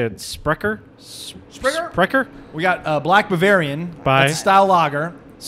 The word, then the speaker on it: Sprecher: Sprecher? We got Black Bavarian. By? That's a style lager. Sprecher. Sprecher. Yeah, that's Sprecher.